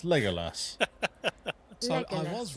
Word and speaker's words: Legolas: make it say Legolas I found how to pronounce it it's Legolas so I was right Legolas Legolas no I was wrong I keep saying legus I I grew up I mean I read